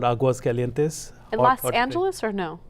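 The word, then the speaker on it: Aguascalientes: It's Aguas Calientes. Aguas Calientes.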